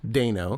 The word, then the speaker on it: Dano: It is pronounced Dano.